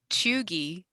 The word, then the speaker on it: cheugy: Okay, so Chugi, according Thank you. according In the what is how you spell it?